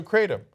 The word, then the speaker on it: kratom: Well, how do we pronounce that the other drug? Kratom?